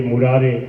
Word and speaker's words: मुरारे: जैसे श्री कृष्ण गोविंद हरे मुरारे, मुरारी है, मुरारी नहीं। अब जिनको ज्ञान नहीं हो मुरारी बोलते हैं, क्यों?